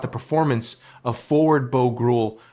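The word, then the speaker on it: Groulx: The coach also spoke about the performance of forward Bo Gruel, pronounced Bo Gru, who entered the lineup after being called up earlier in the day.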